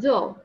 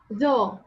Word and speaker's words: though: Like, you have to know that GH here is silent, and read it with F sound.